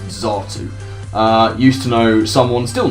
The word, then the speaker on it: Xatu: And I'll maintain it's pronounced Xatu.